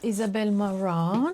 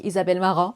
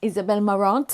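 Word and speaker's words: Isabel Marant: in English I'm like Isabelle marant and I even pronounce the T when actually in French you do not pronounce the T at the end so here is the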